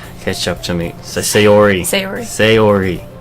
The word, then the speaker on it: Sayori: the crosswalk and let Sayori catch up to me. Sayori. It's like say-ori. Are you sure that's how you're supposed to pronounce it? Yes, everyone says Sayori.